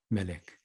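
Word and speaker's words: מלך: 멜레크.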